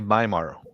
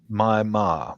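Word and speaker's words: Myanmar: and okay and uh they they they say myar Mya my ma that's how they pronounce their name of their country and she's a she's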